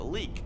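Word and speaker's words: Leyak: have the layout or in Indonesia people call it a leak they don't like to pronounce the Y well this is a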